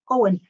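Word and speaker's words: Eoin: That's how you pronounce his first name, Owen.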